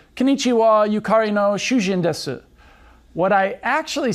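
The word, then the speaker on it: 囚人: Shujin, husband, has a short U vowel, but Shujin, prisoner, has a long U vowel.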